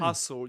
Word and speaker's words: hustle: hustle, you don't pronounce the t, right?